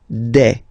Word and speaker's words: des: Okay, and then the plural form, des. All right, here s, you pronounce it like e.